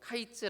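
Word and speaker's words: קַיִץ: 주신 겁니다 여기서 이제 여름 과일이라는 말은 히브리어로 카이츠 아고 말합니다 카이츠이 카이츠 말과 끝이라는 말 의미를 가진 히브리어 캐츠의 모양과 발음이 비슷합니다 어 위에 나오죠 우리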